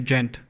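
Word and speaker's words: djent: What drew you guys to gent?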